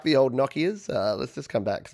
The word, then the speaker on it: Nokia: Yeah, so Robin the Space Boy says, I wonder if anyone still has a Nokia. Nokia, we called them Nokia here. I think it's Nokia is the actual pronunciation in, are they a Swedish company?